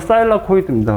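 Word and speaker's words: thylakoid: 틸라코이드, 영어인데, 뭐, 정확한 발음은 사일라코이드입니다.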